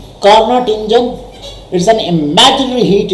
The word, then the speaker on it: Carnot: कार्नोट engine करके कहते हैं, बेसिकली इसकी प्रोनाउंसिएशन क्या है, कार्नो है।